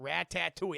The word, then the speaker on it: Ratatouille: Ratatouille. That's how I'm saying it. That's how it's said.